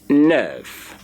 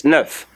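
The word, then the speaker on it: neuf: nerve is L9 nine nine in French is Nerf Nerf is your nine another spell Nerf in French in French the Nerf is spelled n uh e T of course don't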